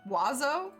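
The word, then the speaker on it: oiseaux: In French, the word for birds is that, which is pronounced wazo.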